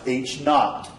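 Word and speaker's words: H₀: notation that's used the H Subzero which is pronounced H not H not is the null hypothesis ha is the alternative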